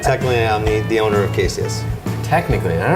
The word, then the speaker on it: Caseus: I like the Caseus because a lot of people will mispronounce it. So I've gotten people say Caseus or Caseus. Cassius is my favorite. Caseus.